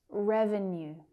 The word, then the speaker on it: revenue: Revenue. Revenue. Stress on the first syllable.